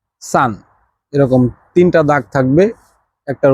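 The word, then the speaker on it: 三: এখন তিন তিন কিভাবে বলবে চাইনিজে সেটা হচ্ছে সান সান এরকম তিনটা দাগ থাকবে একটার উপর একটা এটা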